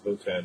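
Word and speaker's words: Wotan: My son's middle name is Votan, which is a lower German pronunciation of Odin.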